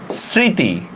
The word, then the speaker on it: স্মৃতি: আচ্ছা আরো দেখি আমরা, স্মৃতি, আচ্ছা খেয়াল করেন স্মৃতি, আচ্ছা এটা কি স্মৃতি বলি আমরা? স্মৃতি না, এটা স্মৃতি। এই যে তিশা, খেয়াল করেন আপনি স্মৃতি বলতেছেন ঠিক না, এস এর মতো করে উচ্চারণ করতেছেন, কিন্তু আপনি যদি স্মৃতি উচ্চারণ করতেন তাহলে কিন্তু তালব্য দিয়া লিখতেন, ঠিক না? স্মৃতি, এখানে মফলার উচ্চারণ হয় না, তাহলে আমরা কি করতে পারি, স্মৃতি। যেহেতু মফলা উচ্চারণ হইতেছে না আমরা একটা চন্দ্রবিন্দু দিব।